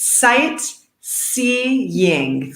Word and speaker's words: sightseeing: through the list first this one is a bit hard to pronounce but it's sight seeing three syllables sightseeing so try it at